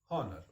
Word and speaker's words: honor: there is a word honor H will know you are Horner the world Horner begins with Hector but that H is not pronounced so that is why